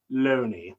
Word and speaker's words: Looney: It's pronounced Loney.